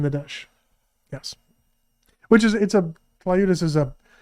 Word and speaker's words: tlayuda: Oh, so the T and the L are next to each other. They are. Oh, that makes it hard to pronounce.